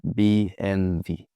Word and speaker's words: BMW: So that's why they say B NV.